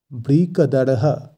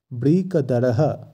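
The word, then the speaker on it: বৃকোদরঃ: কর্ম সম্পাদনকারী তারপর আছে বৃকদারহ এখানে শব্দের শেষে যেহেতু বিসর্গ আছে তাই আমরা বিসর্গের জায়গায় হ এর উচ্চারণ করব তাই উচ্চারণটি হবে বৃকদার তার সাথে হ ব্রিকদারহ এই শব্দটির অর্থ ও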